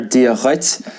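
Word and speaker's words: duit: And now also I'm doing a kind of a a glutal sound there. Ditz. Um it's spelled d ui t. But in general we we put kind of a a shvu kind of a soften sound on it.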